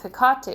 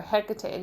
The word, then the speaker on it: Hecate: used to be in dealing with picati or hecate depending on the pronunciation you want to use she is actually one